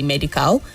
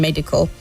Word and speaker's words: medical: And the words rural and medical, the last syllables both have a weak sound. So you don't say rural and you don't say medical. You say rural and medical.